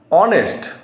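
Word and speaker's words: honest: এ বসাবো এবার আরেকটি যদি দেখা যায় ধরুন অনেস্ট এখানে দেখুন এইচ দিয়ে শুরু হচ্ছে এইচ ও এন ই এস টি ধরুন অনেস্ট ম্যান এইচ ও এন ই এস টি অনেস্ট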